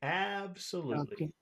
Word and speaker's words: absolutely: okay the problem is the problem is that when you have a word with more than two syllables it's possible that there could be two accented syllables and I think normal you so you could do loot if you want absolutely atrocious but I think most people would probably choose the first syllable and say absolutely absolutely absolutely MH absolutely